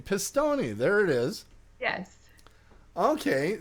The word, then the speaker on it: Pistone: Thomas, I just learned how to pronounce his name. Pistone.